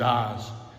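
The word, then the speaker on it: עֹז: of the word power Hebrews eyes that's how you say it it's a transliterated into English as Oz check it for yourself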